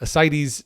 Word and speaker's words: ascites: it it said it's it's spelled a little bit funny but ascites tip tends to be a a classic pronunciation there uh clay colored